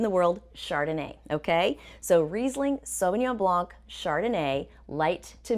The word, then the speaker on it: Riesling: and here you go riesling and it's not rising but don't worry the